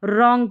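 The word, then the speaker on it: wrong: इसको रिस्ट पढ़ा इसको रॉन्ग पढ़ा आर से पढ़ा तो इस तरीके से डब्ल्यू आर के कॉम्बिनेशन में डब्ल्यू साइलेंट रहता है डब्ल्यू का उच्चारण नहीं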